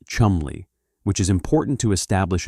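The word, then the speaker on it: Cholmondeley: His name was Charles Choland Lee and the name is pronounced Chumley which is important to establish immediately because the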